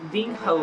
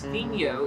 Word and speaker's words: Vinho: if you go back i'm pronouncing the h in the video and then later on i'm watching more and more resources about it and i realize that it's vino it's not bing ho maybe some people called